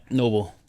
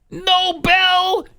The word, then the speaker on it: Nobel: these people are embarrassing come on Noble it's no bad are you serious you are the White House Press Secretary you don't know how to pronounce Nobel Prize Nobel really you don't know